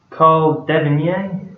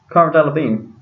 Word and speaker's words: Cara Delevingne: And it's got here celebrities, Flintoff and Cotton, Catherine Zeta-Jones, Carl Devinier, is that what you pronounce it? Mm-hmm. Ah, okay. Talking about... Cara Delevingne. Oh, no? Cara Delevingne. That's Cara Delevingne.